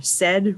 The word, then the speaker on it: SED: District school and bosies just remember said rhymes with beds the second code is